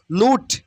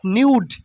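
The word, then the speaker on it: nude: intimate intimate intimate ঘনিষ্ঠ নুড মানে উলঙ্গ নুড নুড নট নিউড নুড নুড মিন উলঙ্গ নুড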